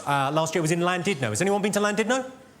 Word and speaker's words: Llandudno: This guy, front and centre, where you're sitting there, face like fucking thunder, went, "It's not Llandudno, you bloody fool. It's Llandudno. In Wales, the double L is pronounced with a C."